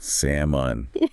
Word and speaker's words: salmon: Silent ol in semen. Salmon.